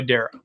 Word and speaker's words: Dara: go by Dar or do you go by Dara it's Dar yeah it's it's an it's an